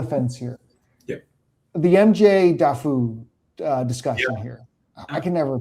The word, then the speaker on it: Daffue: I think it's I think it's Daffy. I think it's I I think it used to be Daffue and then it became Daffy.